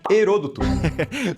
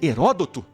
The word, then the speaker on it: Heródoto: Herôdoto? Ah, será que ele quis dizer Heródoto? Mas respeito na hora de pronunciar o nome do pai da história, por favor.